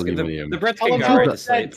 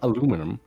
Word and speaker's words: aluminium: Uh the the Brits aluminium aluminum that is it's not aluminum that you just missing letters.